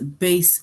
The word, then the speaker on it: bass: in the orchestra so in the sentence base rhymes with case thank you all right